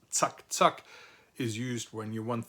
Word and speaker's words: zack, zack: This German expression, which is pronounced zack, zack, is used when you want things to be